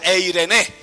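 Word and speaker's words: εἰρήνη: la paz amor gozo paz en el griego se pronuncia e irene e irene es el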